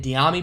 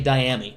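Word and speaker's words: Dyami: carolina to the saints i've been pronouncing it diami brown but it's actually diamy my apologize my apologize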